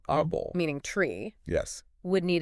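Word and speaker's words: árbol: psychology exactly that's the opposite so the word Aral Aral meaning tree yes would need a till because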